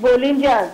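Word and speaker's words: Bolinhas: It is called, it's pronounced Bolinjas, okay?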